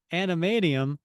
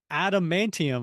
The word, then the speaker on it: adamantium: If it's not animadium, I'll get my shorts because it's adamantium or whatever.